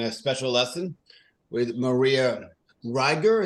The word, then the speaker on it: Riegger: Today, we're doing a special lesson with Maria Riegger. Is that correct pronunciation, or is it? It's Riegger. Sorry, it's a weird German name.